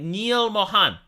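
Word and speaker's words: Neal Mohan: now not by John Mohan Mohan if you can't pronounce Mohan although I don't know why you wouldn't it's Neil like Neil Armstrong right Neil Mohan we will have a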